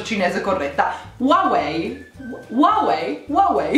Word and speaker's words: Huawei: decisamente qualeil h non si pronuncia ed è pronunciato huawei ok quindi a capua one way huawei ok